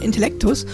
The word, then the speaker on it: Intellectus: Zum einen ist Intellekt nichts Französisches, sondern ist Lateinisch und wird ausgesprochen Intellectus und bezieht sich übrigens